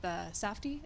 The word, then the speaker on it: Safdie: And what was it like working with Safdie? Is that how you pronounce those names?